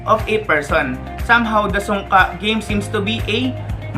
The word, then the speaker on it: sungka: Sungka, pronounced as sungka, is a two-player turn-based board game wherein the players are compete to obtain more stones than the other.